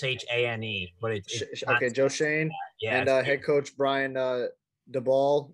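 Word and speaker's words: Schoen: like JQ said Joe uh how do you pronounce his last name like s okay Joe Shane and head coach Brian dbal or dubal have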